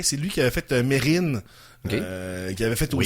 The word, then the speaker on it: Mesrine: Mais ouais, c'est ça- Mérine qu'on dit.